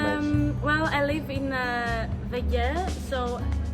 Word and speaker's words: WG: Well, I live in Vege, so Vege, yes.